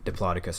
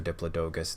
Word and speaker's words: Diplodocus: the whole family of Diplodocus or Diplodocus that pronunciation goes back and forth between people but because the notable